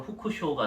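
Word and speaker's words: 複勝: 일본어식 발음으로 후쿠쇼가 되는데 이게 왜 복승인지 모르겠어.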